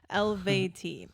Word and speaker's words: Eluveitie: Okay, thank you for putting the pronunciation there. Eluveitie.